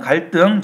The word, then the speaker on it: 갈등: 갈등을 보시면 갈등, 자, 둘 다 이거 한자어들입니다. 갈도 한자고요. 등도 한자예요. 그러니까 한자어 받침 리을 뒤에 디귿으로 연결되는 놈이 된소리로 됐어요.